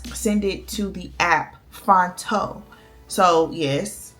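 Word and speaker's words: Phonto: And then I'll download it from DaFont, send it to the app Fonto. So yes, it's spelled P-H-O-N-T-O.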